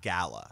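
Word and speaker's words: Galar: of it it's so it's spelled gal R but in all of the videos they say like gala so like the R is silent okay okay so basically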